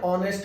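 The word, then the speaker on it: honest: को बोलते हैं एन ऑनेस्ट मैन क्योंकि ऑनेस्ट में एच जो है साइलेंट है और वर्बल के आगे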